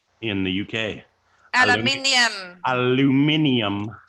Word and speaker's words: aluminium: And she's actually correct. The actual pronunciation for that word is supposed to be aluminium. Aluminium. Yep. I just say that foil stuff. Everybody says aluminum. It's not even spelt aluminum. That's an American thing.